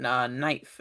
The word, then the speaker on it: knife: can knife and knight which is why the k is silent now okay yeah thinking about